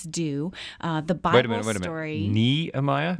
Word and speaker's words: Nehemiah: Bible story nemiah Nehemiah I've been saying Nehemiah my whole life have you really yeah oh is it not pronounced nemiah uh hello control room how do you guys say don't know I always say nemiah with a long like Jean oh well Jean is right